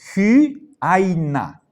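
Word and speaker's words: ὕαινα: No es simplemente hyaina, sino el espíritu áspero me está pidiendo que ponga el sonido de una J al comienzo, ¿sí? Al comienzo, hyaina.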